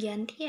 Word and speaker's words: Giyanti: 13 Februari tahun 1755 nama Dianti ini diambil dari lokasi penandatanganan perjanjian ini yaitu di desa Janti dalam pelafalan Belanda yaitu yg anti tempat tersebut sekarang dikenal